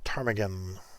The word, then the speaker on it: ptarmigan: Willow ptarmigan. Whitetail ptarmigan. Ptarmigan. I don't know. Why the hell do you put a fucking P in front of a damn word? Well, the P is silent.